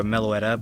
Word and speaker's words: Meloetta: And this is a shiny Melioda, because Melioda isn't, or Meloetta, but I like calling her Melioda or whatever, but that's not how you pronounce it.